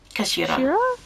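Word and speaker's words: 頭: It's written as head in Japanese, but it's pronounced as Kash Kashira.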